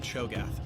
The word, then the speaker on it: Cho'Gath: go gath Champion Spotlight is that how you pronounce it or is it show goth it's probably chogoth right welcome to League of Legends Champion Spotlight featuring cho'gath no I was right the first time Cho gath program looks